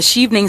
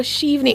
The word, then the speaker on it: Chevening: So, how did you hear about the Chevening Scholarship, and why did you decide to apply?